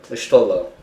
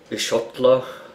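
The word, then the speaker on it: Y'shtola: Yeah, Ishtola. A lot of people mispronounce it, saying Ishotla, like they're replacing the O&T or something, you know.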